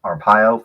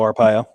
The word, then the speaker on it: Arpaio: his name the former sheriff uh let's see arpaio from arizona i got that by pronouncing his name yeah joe arpaio yeah joel you know they may not like